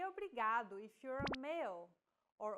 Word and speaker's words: obrigado: here in lesson two don't pronounce it like in English R don't roll your tongue listen to how Anna is pronouncing this sound the think of the quick tapping motion your tongue makes as it strikes the top gum Ridge in words like ladder or butter y altogether it's Obrigado obrigada okay one last